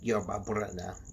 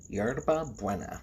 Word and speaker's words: yerba buena: things like blowing a cigar through the ears to relieve an earache, or eating or drinking tea of yerba buena. I totally butchered that. Yerba buena, which is Spanish for spearmint.